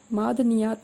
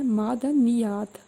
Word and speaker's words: معدنیات: ہے یہ۔ رسائی، معدنیات، معدنیات نہیں بولنا، اس کو بولنا ہے معدنیات، معدنیات، جیسے ہم بولتے